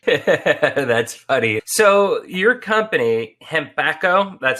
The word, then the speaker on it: Hempacco: bit of english that's funny so your company hembacho that's how you pronounce it right yes okay and becca why